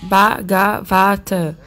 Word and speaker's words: Bhagavata: Então, Bhagavat. Tem quatro sílabas. Bhagavata.